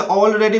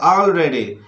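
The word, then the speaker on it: already: अधिवेश wall ऑलरेडी ऑलरेडी कुछ लोग इसे ऑलरेडी बोलते हैं जो गलत है आलरेडी आफ बट all beach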